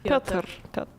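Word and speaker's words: Пётр: Piotr.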